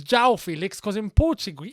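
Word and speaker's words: João Félix: so of course it's ciao Felix because in Portuguese in Portugal in Portuguese they pronounce the J so it's Zhao Felix okay well Jal Felix looks like he's on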